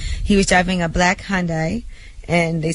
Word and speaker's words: Hyundai: that even happen he was driving a black Hyundai and they said he was what what was